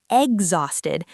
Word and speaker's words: exhausted: The letter H is completely silent. You do not say exhausted.